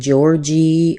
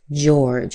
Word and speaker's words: George: Be careful that you're not saying georgie or Georgia or anything like that. This is just George.